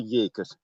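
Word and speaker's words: Jeker: yes it's called the year you pronounce the j the year last year if i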